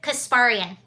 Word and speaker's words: Kasparian: Kasparian?